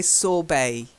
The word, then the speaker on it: sorbet: so the first one it's a silent T we say sorbet there be mm-hmm yeah